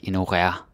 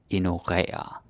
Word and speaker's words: ignorere: But you gotta say it correctly. Ignorere. Don't say like ignorere, or ignorere. No, no. Ignorere. That's how we say it.